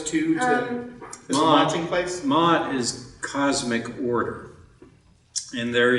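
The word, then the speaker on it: Maat: Am I pronouncing those correctly? Sounds okay. Okay. I say go for it. Yeah. You're right. Okay. Mot.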